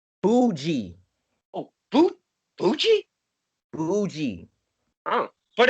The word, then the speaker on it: Boujii: you never again will i ever say your name wrong ever uh it is boogie correct boogie jay fuji uh that'll never ever be uh